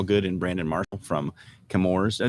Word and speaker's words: Chemours: and brandon marshall from camour's uh do i say that right kimora is that the right right pronunciation got it so we're